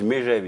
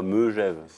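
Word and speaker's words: Megève: Parce que les Lyonnais disent Mégève, ils disent pas Meugève. Moi, je m'en fous.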